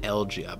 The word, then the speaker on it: Elegia: you just got shanked is it algia or elegia i don't know i'm gonna rehear it allegia i think it's spelled elegia but then they said elgia they pronounce it elgia but we'll rehear it